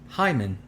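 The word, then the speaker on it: Djimon: first name is pronounced hyman no i n j-a-i-m-i-n going to be d being silent oh wow so it's like so it's like django the d is silent the d is silent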